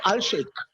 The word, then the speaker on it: Al-Sheikh: No, he's Professor Ahmad Al-Sheikh.